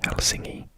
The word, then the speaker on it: Helsinki: there sant peterburg and helsinki or as is pronounced in finnish helsingi is just there and